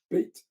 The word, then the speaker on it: Beat: what bat said there is it bat or beit I'm never quite sure it's beit it will be be so you pronounce the a but you know what